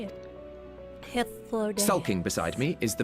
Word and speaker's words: Hythlodaeus: Hythlodaeus.